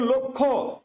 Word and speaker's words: লক্ষ্য: তাহলে এই যে যুক্তবর্ণ দেখেন লক্ষ্য এই লক্ষ্য থেকে হয়ে গেল কি? লক্ষ থেকে হয়ে গেল লক্ষ্য। লক্ষ্য মনে রাখবেন এই যুক্তবর্ণটার উচ্চারণ হচ্ছে কখ।